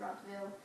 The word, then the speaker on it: Rottweil: And then the towns themselves were called villes, so Rottwil, and that's how you pronounce it, Rottwil.